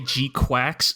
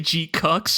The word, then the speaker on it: GQuuuuuuX: I've tried to train myself to say G-Quacks so that I don't say G-Cucks.